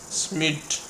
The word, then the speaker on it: Schmidt: Okay, so the pronunciation is Schmidt.